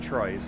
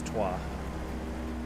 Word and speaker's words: Trois: I do know it's Trois, not Troyes. It's Trois.